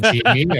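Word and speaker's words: Gini: Is it Genie or what is it? How do you say it? Is Genie, yeah, the Genie coefficient.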